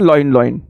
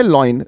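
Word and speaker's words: lion: मतलब शेर ठीक है बच्चे पढ़ते हैं लाइन लाइन कुछ बच्चे यह भी बोलते हैं लेकिन लॉयन की अगर स्पेलिंग देखें और गौर करें तो लॉयन में ओ पहले आई बाद में है ठीक इसको पढ़ेंगे लॉयन ला ला पे चंद्र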